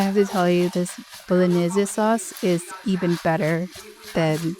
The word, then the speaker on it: Bolognese: It does seem like in Italian it's called bolognese. You pronounce the E at the end.